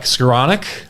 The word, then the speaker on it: Skowronek: thanks for having me let's start with the pronunciation check skronic how are we doing that's perfect okay what